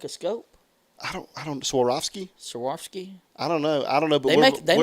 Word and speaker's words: Swarovski: Yes, Swarovski. Swarovski. Yes, thank you so much. Yes, and I agree with you. Is it almost like the crystal? The Swarovski's crystal, like a scope? I don't. Swarovski?